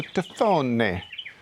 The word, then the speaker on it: tafone: And so I'm choosing to go with an Italian kind of pronunciation, so Tafone and Tafoni.